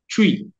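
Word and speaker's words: Twi: w i twe that is how the Americans pronounce it twe but we pronounce it as twe okay so that is the most popular language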